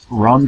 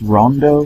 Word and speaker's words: Ronde: game here which is it looks like Ronde in English but it's actually pronounced Rondo for some reason and uh here Rondo here is a a